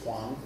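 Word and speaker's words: 黄: Now in Mandarin they're pronounced differently. One of them is Wang, and one of them is Huang. But in Cantonese and in Toisan dialect they are homonyms. They're both Wang.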